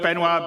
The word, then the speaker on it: Benoit: And without me waffling on, I'd like to bring CIG's CTO, Benoit.